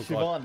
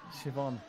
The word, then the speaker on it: Siobhan: Oh, Siobhan, that's it. Yeah, Siobhan. Siobhan. It's a good name. Why do they spell it like that, Kevin?